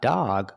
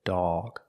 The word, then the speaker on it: dog: It makes a sound aw, like call or saw. The sound is back here. Aw, not ah, but aw. Dawg. So when you see them together, hot dawg, the two o's are making different sounds. For hot, you make the open sound, like normal. Ah, hot. But dawg, the o is before a g, so we make the sound back here, dawg. Not dog, but dawg.